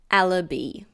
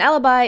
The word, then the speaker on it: alibi: And again, be careful of the pronunciation. It's not alabi. It's alibi. An alibi is something that proves that a person was somewhere else when a crime was committed.